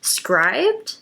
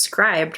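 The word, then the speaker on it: Scribd: library app but it's that scribed or script how do you say that I think it's scribed right um yeah I've been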